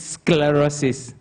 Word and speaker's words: sclerosis: Uh that is the name which the MC was unable to pronounce. It's sclerosis.